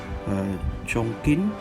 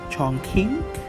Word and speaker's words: Chongqing: flame so I'm gonna send my troops from Chongqing yeah right Chong Chong Qing it's if you pronounce it in English it's gonna be Chongqing